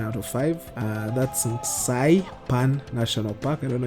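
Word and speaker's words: Nxai Pan: of five uh that's sai pan national park i don't know if i pronounced that or butchered it it's nxai then pan as in frying pan oh saipan national park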